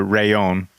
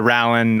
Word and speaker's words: Rallon: It is the rayon. Not the rin, not the ron, but the rayon.